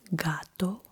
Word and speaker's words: gato: If it's a o u then it is like guh gato goso gusto gusto If